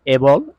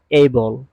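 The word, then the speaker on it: able: আজকের এই পাঠে আমি আলোচনা করব এবল এবল নট এবল এইবল উচ্চারণ হয়েছে এইবল।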